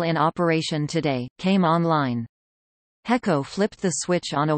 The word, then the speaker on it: HECO: electricity topic history Hawaiian Electric Company often abbreviated HECO pronounced he Co H incorporated on October 13th 1891